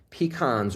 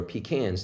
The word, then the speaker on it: pecan: For instance, with biotin, almonds, artichokes, avocados, bananas, black-eyed peas, Brazil nuts, onions, peanuts, pecans or pecans, depending on how you pronounce it, raspberries, soy.